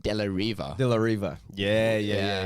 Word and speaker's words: De La Riva: a certain movie have that's pronounced delahiver yes but it's spelled like De La Riva De La Riva yeah